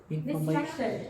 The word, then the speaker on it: distraction: We need a noun, and the keyword is distraction. Very good. Distraction. Okay. Distraction. So listen and repeat after recording 5. Distraction. Again, distraction. Okay, so where is the stress? The second syllable.